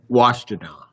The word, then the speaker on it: Washtenaw: It's Washtenaw.